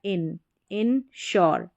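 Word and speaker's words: insure: तो ईजीली पढ़ सके तो इसको आई एन को इन पढ़ेंगे क्या हो गया इन श्योर इनश्योर फिर यहां पर है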